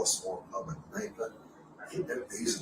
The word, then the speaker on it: Kneipe: Germans call a small It's really a pub, and the Germans call a small pub a Kneipe.